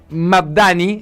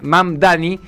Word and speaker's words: Mamdani: Estamos hablando de Soram eh y vamos a pronunciar eh bien el apellido. Sonam Mdani eh Mamdani, ese es el nombre de el alcalde electo y que él se define como un socialista demócrata.